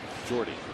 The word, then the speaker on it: Jordy: It's not short for Jordan. It's Jordy.